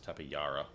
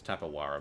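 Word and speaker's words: Tapejara: given it's a J, it's probably a Y sound, so it's Tapayara. Oh no, Hara, because Jesus, like J, so could be could go either way. I don't think it's Tapawara, but then again, pronunciation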